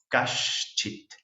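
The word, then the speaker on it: कश्चित्: Kashchit. La C siempre se pronuncia CH y esta es la S de Shiva, SH.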